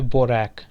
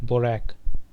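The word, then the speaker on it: baroque: Next चलते हैं, next है हमारा, इसको दोस्तों प्रोनाउंस करेंगे बोरैक, ठीक है। बोरैक। क्या पढ़ेंगे? बोरैक, ठीक है।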